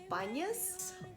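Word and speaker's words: Banias: The first stop was Banyas. Arab people named it and they don't pronounce P.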